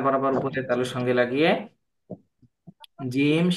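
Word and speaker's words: ج: জিহ্বার মধ্যখান তার বরাবর উপরের তালুর সঙ্গে লাগিয়ে জিম শিন ইয়া ঠিক আছে আর এই দ হরফটা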